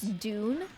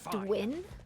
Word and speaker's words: Dun: The way he says dune and says Dwin. The gates are open. We must attack. Who coached that voice actor to say Dwin? Who? Who? Who looks at dun and pronounces it Dwin?